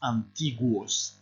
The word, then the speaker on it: antiguos: En los tiempos más antiguos. Alors, ici, le U se prononce, hein, faites attention.